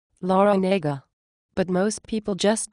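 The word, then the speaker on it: Larranaga: Jim Laranaga? Actually, it's pronounced Laranega, but most people just call him Coach L.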